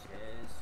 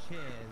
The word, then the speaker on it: Cheese: It's technically pronounced Chez, but it's spelled cheese. It's pronounced Chez, but is it spelled like cheese?